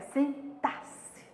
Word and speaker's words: sintaxe: A gente sabe que quanto a sintaxe, a pronúncia é essa, sintaxe, tá assim.